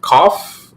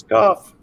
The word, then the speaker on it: Goff: is it Koff? Is that how you pronounce it? It is Goff.